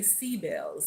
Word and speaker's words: Sibyl: to our uh sibl and I'm gonna say sea bells. Okay, if we want to pronounce it in the old new world language um and I'm just